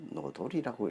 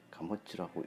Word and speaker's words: 荷知: 그런데 이것을 노돌이라고 읽고 있습니다. 그렇게 주석을 그렇게 달아놨습니다. 잘못된 설명입니다. 그런데 100% 잘못됐다 하기는 약간의 묘한무가 있습니다. 하지는 노돌이라 읽을 것이 아니고 이것은 사람 이름으로, 즉 가모치라고 읽어야 맞습니다. 가모치.